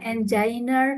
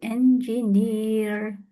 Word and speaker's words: engineer: Nah ini bacanya engineer ya. Bukan enginer tapi engineer. Engineering.